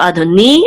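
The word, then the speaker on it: אֲדֹנִי: yud together say ni, and the accent again is over the nun, which means it's on the last syllable. So Adoni, and again this means my Lord.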